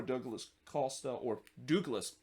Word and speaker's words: Douglas Costa: Though early on in the second minute, Bond did deny Magno, who had a free header there before Douglas Costa, because that's actually the correct pronunciation.